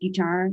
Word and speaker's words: Guitar: I'm your host, Guitar. Last name pronounced guitar, like Guy as in ski.